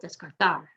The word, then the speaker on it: descartar: vowel quiero quiero que descartar ends in an r we're going to emphasize the last syllable descartar the z we're going to